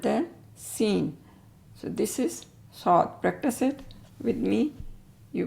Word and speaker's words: ص: this one is saw if we say we can pronunciate saw in English we can easily say sod sod S this is s